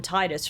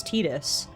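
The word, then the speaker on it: Tidus: heard this somewhere that everyone it seemed like called him Titus for the longest time, which I think I would also have called him Titus, but I'd only recently heard that the creator of the game was like, "No, it's Tetus."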